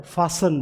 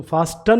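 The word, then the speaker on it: fasten: क्या बोला जाता है, फासन बोला जाता है, फासन। तो इसको फास्टन नहीं बोलते, क्या बोला जाएगा, फासन।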